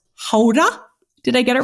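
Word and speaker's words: Gouda: derailed our conversation but uh guda is not pronounced guda is pronounced Hoda did I get it right say it yes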